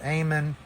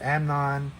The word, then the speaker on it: Amnon: spelling from last week it's not eamonn it's amnon who is the son